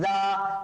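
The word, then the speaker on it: ز: তারপরে শিখেছিলাম আমরা যা, তারপরে আমরা শিখেছিলাম যা। যাটা যেন কিভাবে উচ্চারণ করতে হয় স্যার, আমরা বলেছিলাম যাটা যখন উচ্চারণ করবেন তখন অনেকটা মৌমাছির মতন আওয়াজ শুনতে পাবেন।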